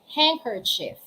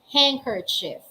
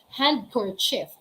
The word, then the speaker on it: handkerchief: listen carefully handkerchief again handkerchief again it's not hand cord shift it's not handkerchief the gift to you is a handkerchief it's wrong it's handkerchief hang handkerchief handkerchief so it's silent letter d so the pneumonic is